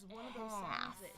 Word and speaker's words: half: And I see an extra letter that doesn't seem to be in the pronunciation guide.